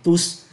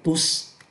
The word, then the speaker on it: tous: à condition que nous sachions de partager avec tous. Đấy, chúng ta lại gặp đại từ nữa và chúng ta phát âm là tous.